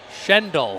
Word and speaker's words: Schendel: Schendel. Schendel. Like Holy SH.